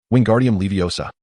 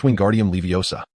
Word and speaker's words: Wingardium Leviosa: Wingardium Leviosa, he exclaimed, flailing his arms like a windmill. You've got it wrong, Hermione retorted bruskly. It's Wingardium Leviosa. The gar must be pronounced long and clear.